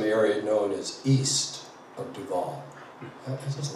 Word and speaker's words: Duval: I just found out some area known as east of Duval. I just like that. Duval.